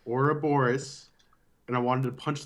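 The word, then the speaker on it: Ouroboros: or the air back it is not pronounced or a burruss or whatever its aura Boris and it drove me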